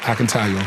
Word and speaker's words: Akintayo: He told me to say it like I'm saying.